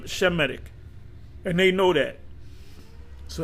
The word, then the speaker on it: Semitic: Or Shemitic, it's pronounced Shem- Shemitic.